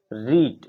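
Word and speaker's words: read: Have you रीड? रीड का third form रीड होता है। रेड स्पेलिंग सेम होती है।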